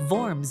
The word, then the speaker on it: Worms: The city is actually pronounced more like Vorms in German.